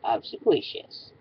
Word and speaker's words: obsequious: the word ofous I'm sorry if I don't pronounce it correctly but it's obsequious and spelled OB BS e q i u